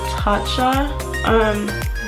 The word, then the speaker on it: Tatcha: I want to use the Tatcha, that's how you pronounce it.